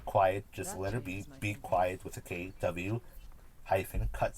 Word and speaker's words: B Kwiet: called be quiet cutscene b as in does the letter b quiet spout kw iet so how quiet would have been spelled if it was spelled with a kw instead of a q u uh hyphen cutscene i'll